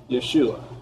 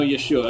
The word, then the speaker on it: Yeshua: well well we know yeshua if i was going to go directly from there into english we do have a a y and we can say so i can actually say yeshua in english but now we're going